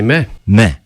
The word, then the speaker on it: Meh: about because it's spelt em eh but you pronounce and had you said well you just say meh meh okay so explain this now well it's a